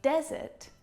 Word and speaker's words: desert: In desert, the stressed syllable is the first syllable.